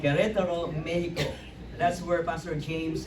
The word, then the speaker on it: Querétaro: We're currently supporting Pastor James and Barbarita Lee, who are campus missionaries in, let me pronounce it right, Querétaro, Mexico. Right, Pastor? See? All right, Querétaro, Mexico.